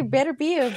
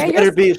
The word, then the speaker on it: Beterbiev: See, I used to say Beterbiev, but It is Beterbiev. Sorry, yeah. That's the way to say it.